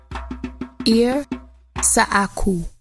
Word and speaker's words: ir.sAxu: Marinette sir barok area men do ritual is pronounced as ear sokku ear sokku